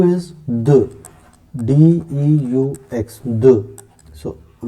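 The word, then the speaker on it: deux: Then 2 is the, D-E-U-X, the.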